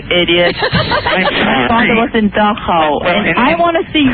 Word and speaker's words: Dachau: It's not Dachau. It's Dachau.